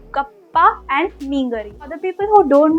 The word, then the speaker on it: meen curry: And this is mainly pronounced like kappa and meengari.